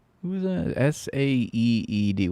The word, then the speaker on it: Saeed: S-A-E-E-D. How do you say that? Saeed. Saeed.